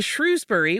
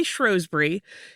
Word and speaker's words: Shrewsbury: When the family moved to Shrewsbury, which some people also say Shrosbury, he transferred to Shrewsbury Technical School and he graduated from there in 1911.